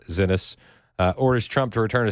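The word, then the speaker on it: Xinis: it says Judge Paula Zenis and I believe that's how you say it. X I Nis Zenis orders Trump to return a suspected MS-13 member from El Salvador in jail.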